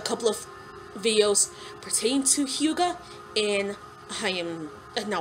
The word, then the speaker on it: hygge: my beginning this this new thing called called hyuga even though it's spelled h-y-g-g-e it's pronounced hugo anyway according to one of them the um